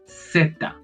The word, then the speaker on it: zeta: In Colombia, in my country, and many places in South America, people say zeta. So it is like pronounced C, but they add a T and they add another A to say zeta.